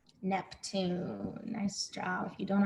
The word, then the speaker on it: Neptune: like my name neptune neptune neptune capital n e p t u n e capital because it's a name and the e is silent neptune nice job if you